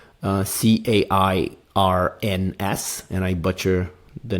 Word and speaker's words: Cairns: extended my trip Beyond just business um to Cairns so if you are thinking about diving the